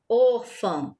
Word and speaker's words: órfã: E a sílaba tônica é o or, a sílaba mais forte, o som mais forte.